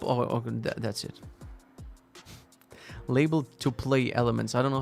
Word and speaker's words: tuple: Variadic tuple. Oh, that's it. Label to play elements. I don't know how to pronounce this word.